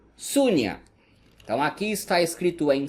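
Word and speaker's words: शून्य: Vazio se pronuncia Sunya. Então aqui está escrito em sânscrito e aqui usando o nosso alfabeto. Sunya, vazio.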